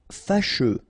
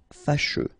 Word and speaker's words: fâcheux: Fâcheux. So final X not pronounced, and then you get your combination of U, E. Fâcheux.